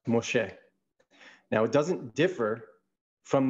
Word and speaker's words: Moshe: The word Moses, if you were to transliterate it, it would look like M-S-E, it'd be Mem Shin He, and it's pronounced Moshe.